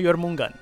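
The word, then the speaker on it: Jörmungandr: Sim, se pronuncia Jormungand. Eu sei pronunciar Jormungand, né? Jormungandir, né? Que ele se escreve assim, mas eu não sei pronunciar Cheyenne.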